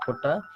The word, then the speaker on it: putta: So puta is a very common thing, but in Telugu pronunciation is putta, and also found in some other Dravidian languages as with a different thing.